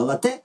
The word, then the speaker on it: лате: мокачино лате нагадаємо що раніше популярна назва напою кава лате з наголосом на другий склад прийшла з французької і означала просто кава з молоком а кава лате з наголосом на перший прийшла з італійської і означає каву з молоком як певний напій що готуєть за визначеною технологією Отже запам'ятаймо що російське